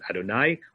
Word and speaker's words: Adonai: we get the notion of looking at the letters and pronouncing as Adonai we're all still in